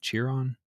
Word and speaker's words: Chiron: uh the Bugatti how do you say that shiron Chiron yeah just let me do this okay [